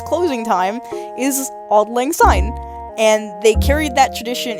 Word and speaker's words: Auld Lang Syne: the sake of time, but long story short, Auld Lang Syne, that's how you pronounce it, right? I think so. Yes. Auld Lang Syne, yeah.